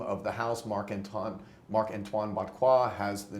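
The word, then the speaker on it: Barrois: That's how it's pronounced, Botquois.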